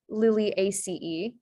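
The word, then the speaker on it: Liliaceae: so first word is latin um and it's pronounced lily ace um this one to be is a little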